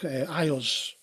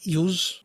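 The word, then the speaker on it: Iuz: See, I've heard people say, in World of Greyhawk, Ios to the north, the demigod. Americans pronounce it completely differently. They say Ius.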